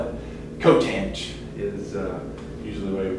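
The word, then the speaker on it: coth: Cotanch. Yeah, they usually pronounce that. Got my X on that one. Yeah, they usually go with cotanch on that.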